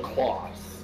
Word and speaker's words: CLAAS: Why don't you call it a class? It's spelled the same as a classroom. Class. No, it's not. That's because you call bacon ham. It's Class. have two It's A's, CLAAS. Classroom is CLASS. It's different.